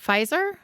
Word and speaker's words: Pfizer: Pfizer?